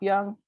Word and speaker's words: Young: And I'm like, as in Derek and Jackson. It's Young, like youth, and like Robert E.